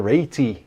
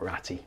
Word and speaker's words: Ratey: His surname rhymes with maybe, so that's Bill Ratey. Not Ratty.